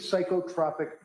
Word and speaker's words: psychotropic: What is psychotropic medication with adverse reaction? What does that mean? It's pronounced psychotropic.